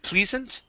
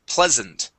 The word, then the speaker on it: pleasant: Um this word here uh you had said pleasant. Okay. This is actually a short e sound. The word is pleasant.